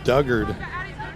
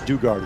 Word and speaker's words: Dugard: Lydia Duggard is out in right field as well, replacing Mercado. Now, our field producer says Dugard is how you say her name.